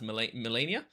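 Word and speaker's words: Malenia: I think it's pronounced Melania.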